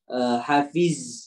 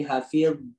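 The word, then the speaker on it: حافظ: Hafiz, jangan hafiz tapi hafid ya.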